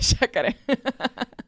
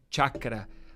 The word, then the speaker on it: chakra: A chácara. O termo correto é chakra.